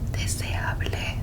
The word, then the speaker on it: deseable: So, desirable, deseable, repeat. De se a ble. Deseable. Desirable. Desirable. Deseable is the way that we would pronounce that in in Spanish. De se a ble.